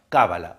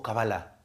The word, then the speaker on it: cábala: Otra más, cábala o cabalá. Cambia la pronunciación.